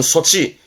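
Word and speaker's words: 措置: 조치는요, 요렇게 쓰거든요. 발음은 소치. 요게 우리말 조치예요. 발음은 소치합니다. 이 조치는 보통 법적인 조치, 법적 조치죠. 호떼끼 소치처럼 이 소치를 쓰는데 이것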